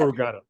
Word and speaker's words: corrugata: Corrugata.